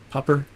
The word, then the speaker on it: Popr: Mellon being head, popper.